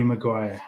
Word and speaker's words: Maguire: it going to be Harry MaGuire oh yeah yeah right right Rhymes rhymes with from the Shire and I did like